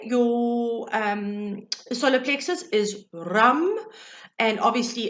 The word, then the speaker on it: ram: for the day your um solar plexus is rum and obviously it's spelled r-a-m but your c time to connect